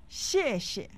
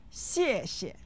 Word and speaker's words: 谢谢: 谢谢 is said with the fourth tone on the first syllable and the neutral tone on the second. 谢谢. It's important to say the neutral tone on the second syllable.